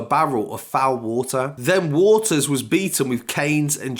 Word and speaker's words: Waters: waters sorry I think I pronounced his name Walters it's actually waters was forced to watch